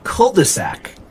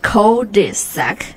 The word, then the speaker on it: cul-de-sac: 可能也是城市的主干道的这种感觉，对吧？是不是？所以那个还有一个就是中文当中我们会经常说的一个说法，就是一条死胡同，对吧 So that's called a cul-de-sac. Cul-de-sac. Yes. How to spell it?